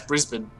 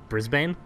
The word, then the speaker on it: Brisbane: Say, how do you pronounce Brisbane? Brisbane? Oh, my God. Brisbane.